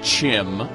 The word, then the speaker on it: CHIM: are not limited to my personal pronunciation of things like Kim which I will always call Chim as well as any